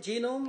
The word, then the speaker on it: genome: Is that how you pronounce it? Genome or genome or geonome? Or what? Genome, yes.